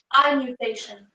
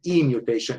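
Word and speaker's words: i-mutation: That's why it is better to pronounce it E mutation. It is a letter I, but it is E mutation, okay?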